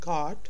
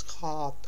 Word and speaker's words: gaat: It's not gaat, it's gaat, gaat, gaat.